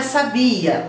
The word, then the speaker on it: sabia: diferença a pronúncia também um é sabia o outro é sabe ar um é oxítona e outro é paroxítona se laboratório da está